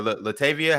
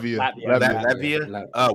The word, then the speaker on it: Latvia: Latvia or Latavia? How do you say that? Latvia.